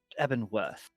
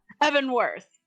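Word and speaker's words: Evanworth: eban worth eban worth I keep thinking eban hold and it's like no that's from Skyrim isn't it uh no no never mind okay Evan worth yes I I've been getting the name wrong as that's that's all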